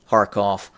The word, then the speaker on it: Kharkov: And the Russians are starting preparatory activity for a renewed drive against Kharkov or Kharkiv, however you wish to pronounce it.